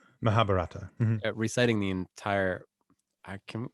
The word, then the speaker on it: Mahabharata: Maybe they did, but I can't imagine a priest standing up there reciting the entire Margarata. How do you say it? Mahabharata.